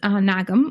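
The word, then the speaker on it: Nagham: of background about myself my name is nagam or n for those of you who are able to actually pronounce the Arabic uh n and and and in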